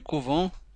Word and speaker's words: couvent: هنا تنطق couvent وهنا تنطق couve. Le verbe couver. Couvent c'est un nom. couve c'est un verbe. تنطق بنفس الطريقة ولكن تكتب بنفس الطريقة ولكنها تنطق بشكل مختلف.